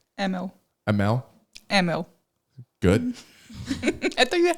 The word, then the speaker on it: Emmel: how do you say your last name emma emmel ammo good i think you had a good